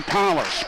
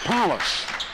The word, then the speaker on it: Police: on the left side for lincoln it's elijah palace p-o-l-i-c-e spelled like police pronounced palace drives left side